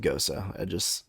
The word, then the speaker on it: Gose: Also, just really, it really does irk me that it's pronounced Gosa.